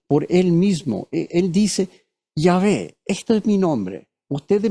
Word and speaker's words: Yahvé: equivalente más menos en español y hhwh yah Jehová dicen algunos, pero Yahé más cerca a la forma correcta de pronunciarlo. Es el nombre personal individual de Dios definido como tal por él mismo. Él dice, "Yahé, este es mi nombre.